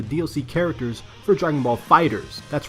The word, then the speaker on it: FighterZ: characters for Dragon Ball fighters that's right it's pronounced fighters not fighters Z not fighters ed or fighters zebra fighters furthermore I noticed